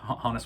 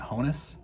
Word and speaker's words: Honus: Wagner, Honus Wagner, and I've been pronouncing it Honus my entire life, but apparently it is pronounced Honus, and I first heard Ryan Nolan of Breakout Cards pronounce it Honus, and I thought, Honus? I've never heard it pronounced Honus. And then I've started hearing more and more people, I think most people still pronounce it Honus, but then I looked it up on Baseball Reference, and it is apparently pronounced Honus.